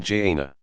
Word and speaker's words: Jannah: destinations paradise is called the garden Jannah pronoun Jana a verdant place of repose and delight an